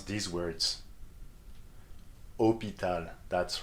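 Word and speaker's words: hôpital: to pronounce these words hopital that's right so you just read it like there is no h at all okay what about this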